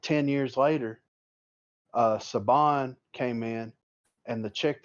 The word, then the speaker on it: Saban: Saban, dude, it's fucking Saban, dude. It's spelled just like Nick Saban. It's Saban, bro.